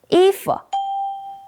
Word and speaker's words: 衣服: First, E is a fourth tone. Second, F is neutral. 衣服.